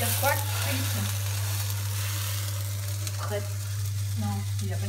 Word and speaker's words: crêpe: Il y a quoi de crêpe? Crêpe. Non, il n'a pas dit ça comme ça. Crêpe. What? Crêpe. Crêpe. Ouais. How do you say? Crêpe. Crepe. You don't want to say creep.